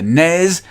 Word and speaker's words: NES: nests and rip nests it's the snez it's the nez deal with it mic